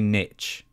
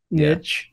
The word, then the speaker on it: niche: You say niche, I think. Yeah, niche. Yeah. Mm. And how do you say it? Niche. Well, it's French, isn't it? That's how you pronounce it.